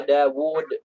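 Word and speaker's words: داود: Ketika diucapkan ada, tapi ketika ditulis tidak ada. Seperti apa? Dawud, Mawuriyah.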